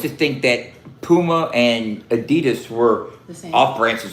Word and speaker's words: Adidas: That's how you say it. Is that how you say that? Adidas. Adidas. Adidas. Adidas. Adidas. Adidas. Adidas. Adidas. That's how they say it in Germany.